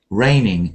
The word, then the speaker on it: reigning: you say this word rainning reigning it's like it's raining rain Queen Elizabeth II is raining the rain of um rain it's a homophone with rain have been now um